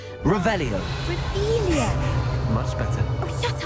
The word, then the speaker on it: Revelio: Rebellious. Saying it wrong. Revelio.